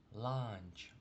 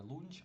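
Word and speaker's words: lunch: Чому ми обід не прочитали лунч? Оцебо ж буква це у. Тому що якщо оця буква у зажата між двома приголоснами, вона читається наближено до а. Тому ми читаємо не лунч, а ланч.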